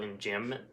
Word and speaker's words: enjambment: One word I do want to talk about, the literary term is called enjambment. It is spelled E-N-J-A-M-B-M-E-N-T.